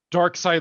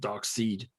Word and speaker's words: Darkseid: Darkseid lantern. Dumb. My favorite is when people pronounce it Dark Seed.